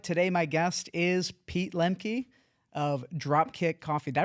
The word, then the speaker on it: Lemke: Today my guest is Pete Lenkey of Dropkick Coffee. Did I pronounce that correctly?